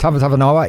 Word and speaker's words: Tavatavanawai: Tavatavanawai, is that how you pronounce it? Yes, that's Tavatavanawai.